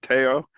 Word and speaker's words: Tello: Teo, instead of Teo, it's spelled Tello, but pronounced Miguel Teo.